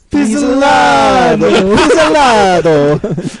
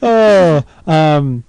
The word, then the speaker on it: Pizzolatto: how he says, hi, you're talking to Nick Pizzolatto. Pizzolatto.